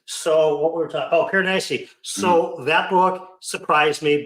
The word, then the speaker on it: Piranesi: One would be Piranesi that I read this year, and it's a short book. It's less than 200 pages. It's spelled Anesi. And I learned how to pronounce it from Philip Chase, Piranesi.